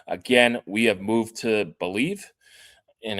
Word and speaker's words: Bleav: Again, we have moved to Believe, and it's spelled Believe without the E at the end.